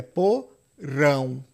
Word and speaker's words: porão: A sílaba tônica aqui é por rão. Por rão. O peso tá no rão.